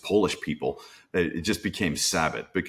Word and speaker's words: Sabat: people it just became sabath be it should be zabat S z- B- a t but it just became sabath at some point and I joked that